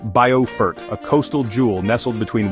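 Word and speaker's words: Beaufort: Our journey begins in Bilfort, South Carolina. Pronounced Boffort, a coastal jewel nestled between winding rivers and the Atlantic, where the gentle sea breeze carries stories of centuries past.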